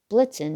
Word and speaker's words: Blitzen: and blitz means lightning blitzen rhymes with vixen sometimes fred would sing